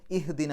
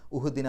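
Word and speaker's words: اهدنا: അപ്പോൾ ഇവിടെ ഇഹ്ദിന എന്നാണ്, അഹ്ദിന എന്ന് പറയില്ല, ഉഹ്ദിന എന്ന് പറയില്ല, ഇഹ്ദിന എന്നാണ് പറയാം.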